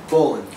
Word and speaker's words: Boland: Boland. Just like Boland. it's spelled B-O-L-A-N-D.